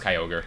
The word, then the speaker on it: Kyogre: It's pronounced Kyogre.